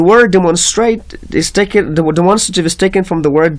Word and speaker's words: demonstrative: اینا زیادتر شاگردها demonstrative میگن چون تلفظ غلط است. کلمه demonstrative تلفظش demonstrative است. demonstrative نیست. demonstrative.